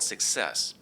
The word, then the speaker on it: CIESS: It's the product of an initiative supported by the Greater PIA Economic Development Council and it's called success where success is spelled CIESS and that stands for central Illinois center of excellence for secure software.